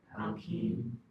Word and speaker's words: alkene: Do you know a lot of people get tripped up on how to say this? So I want you guys to say it with me. Alan. Alkine. Aline. Alkine. Aline. You hear that I in the alkine.